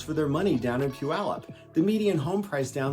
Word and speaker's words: Puyallup: is a suburb of Puyallup wow I got it right that time the first couple of takes I couldn't say it right it is Puyallup and that's named after